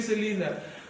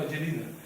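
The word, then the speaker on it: Žilina: In order for us to plant, let's say, 5 churches here in Selina. Did I say it correctly? No, Jelina.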